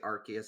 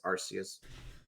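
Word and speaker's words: Arceus: I I did say I did not say Archus. I did say Arus at first. Now I've been corrected as Yep, it's Arus.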